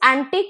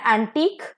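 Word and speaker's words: antique: क्यू यू ई एंड इट is pronounced as एंटीक सो क जो है लास्ट में वो लोंगे होगा वो ज्यादा देर तक आपको बोलना है प्रोनाउंस करना है तो एंटीक विथ सी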